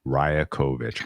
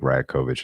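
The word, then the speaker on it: Rajaković: the coach of the Raptors is Darko rakovic rakovich r a j a k o v i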